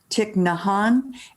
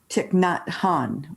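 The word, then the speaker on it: Thich Nhat Hanh: and by the way i've heard his name pronounced both ways tic nahan and tiknot han with the e pronoun so i've heard it both ways so what's ever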